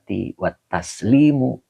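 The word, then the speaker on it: والتسليم: Iya, ini dibacanya wataslimu. Wawnya atop ya, Pak ya.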